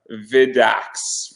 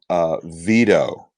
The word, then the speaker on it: Vito: before we go any further, his actual pronunciation of his name is Vito.